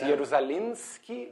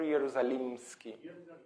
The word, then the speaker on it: Ierusalimschy: m or an N it's jalinski or jerusalemski with M like Maria s in Russian would